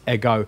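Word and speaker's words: ἐγώ: But because it's facing left, it's showing us don't do a rough breathing on it. So it's ego.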